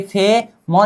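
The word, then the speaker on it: 뱀: फ प्लस ए फे, म नीचे आ जाने पर मई उच्चारण होगा फेम, क्या फेम।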